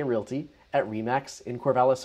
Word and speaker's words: Corvallis: The common mispronunciation that I hear people say is Corvallis, and they just kind of roll things together,